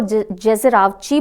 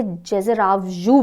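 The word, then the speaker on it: Alper Gezeravcı: कई जगह इसको जेजेरावची बोलते हैं, कई जगह जेजेरावजू बोलते हैं। ठीक है, तो प्रोनाउंसिएशन थोड़ा सा टिपिकल है।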